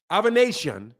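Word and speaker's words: Avanesyan: Guillermo Rigondeaux's name is pronounced Rigondeaux. David Avanesian, that's how that website said it's pronounced.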